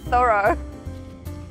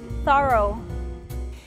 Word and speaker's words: thorough: We say this a little differently in British and American English. Really? Thorough. Thorough. Thorough. Thorough. You say O, like in the word row, and I say just a little schwa sound.